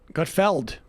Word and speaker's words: Gutfeld: regular basis is it is it not gut feeling no i got feld well i thought this